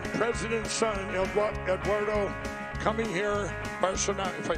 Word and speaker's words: Bolsonaro: Well, next October, remember, about 30 days before this monumental midterm election, he's going to face, his father, Jair Bolsonaro, is going to face the most dangerous leftist